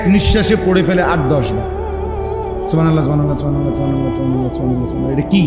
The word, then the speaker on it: সুবহানাল্লাহ: বা এটা কলকলার হরফ, সুব বা এটা কলকলা করতে, হা এটা হলকের মধ্যখান থেকে উচ্চারিত হইতে হবে।